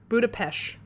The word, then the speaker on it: Budapest: to go watch the movie again budapest okay budapesh so paul's white porsche was parked in the